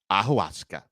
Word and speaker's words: ayahuasca: y a h u a s c a ahuska that is how it's pronounced so the quarterback took to a podcast